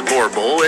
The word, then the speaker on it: Boerboel: sorry number four the Boerboel the Boerboel pronounce of course vorpal is a large Guardian